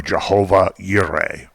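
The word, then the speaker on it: Jehovah Jireh: it's yahweh gire or jehovah yuri it starts with a j that's pronounced like a y because of the hebrew lettering but that the little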